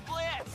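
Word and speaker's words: Blitzø: The name's Blitz. The O is silent, and I'll be your assassin today.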